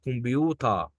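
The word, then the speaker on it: Computer: عشان كده قال لك حرف التسي هنا مش هنطقه تسي، هنطقه كي عادي، زي كلمه كمبيوتر.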